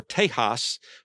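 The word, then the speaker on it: Tejas: The motto was most likely chosen because the name of Texas or Teahas was the Spanish pronunciation of the local Indian tribe word teas or te Texas meaning friends or allies.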